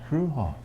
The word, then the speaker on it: Fruehauf: Fruehauf. You pronounced it right, Bob. Fruehauf.